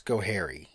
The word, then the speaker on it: Schoharie: But they put enunciation on hair. Okay. So it's Schoharie.